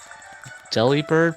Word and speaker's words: Delibird: Delibird pronounced as delivered, except the bird is bird.